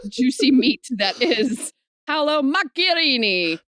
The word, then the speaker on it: Macchiarini: meat that is hello macarini macarini Marini and I look that up and that is how you pronounce it in Itali land L listen to you